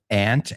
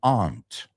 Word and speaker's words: aunt: It's well know aunt and aunt. I've heard a lot of people say I'm going to visit my aunt this weekend. But even in the states I'm going to go see my aunt and well I would naturally say aunt. So we have words like that since there are so many English speakers out there in the world that uh kind of have two acceptable pronunciations.